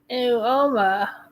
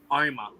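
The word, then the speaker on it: Uoma: And then Woma. I can never say that fucking right. Woma. I think it's Oma. I think it's Oma also. Yeah, the U's pretty sure is silent.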